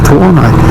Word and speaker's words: Tuono: They'll come up to you and say, oh, how gross is that Tuono? It rhymes with porno.